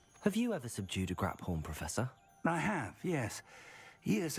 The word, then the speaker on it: Graphorn: I have been mispronunciating that creature's name this entire time. It's a Graphorn? I've been saying Graphorn, because that's what it looks like.